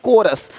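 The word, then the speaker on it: chorus: क्या पढ़ेंगे कैरेक्टर देखिए यहां पे क्या लिखा चोरस नहीं कोरस देख रहे हो शिफॉन यहां पे शिफॉन है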